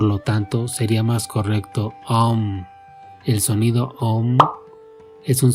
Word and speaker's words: AUM: En sánscrito el sonido O es la unión de la letra A más la letra U, por lo tanto sería más correcto Om.